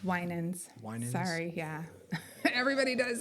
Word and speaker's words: Winans: So real quick, it's Winans.